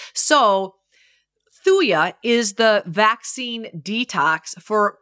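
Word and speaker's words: thuja: on the premise of like cures like so thuya is the vaccine detox for parvo and distemper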